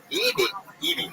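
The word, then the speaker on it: Eby: Evie.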